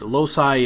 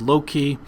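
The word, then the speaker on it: loci: Today's topic is the memory palace system also known as the lossi or the journey system and lossi is also pronounced as low key.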